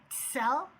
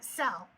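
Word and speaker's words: צל: It's spelled T-S-E-L, and so you kind of have to put a little t in the front of it.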